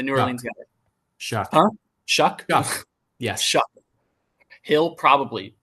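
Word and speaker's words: Shough: And then Tyler, how do you pronounce his last name? The New Orleans guy. Shuck. Huh? Shuck.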